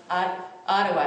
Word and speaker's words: Ottawa: He received his JD from the University of Ottawa, is that how you say it? Ottawa, okay.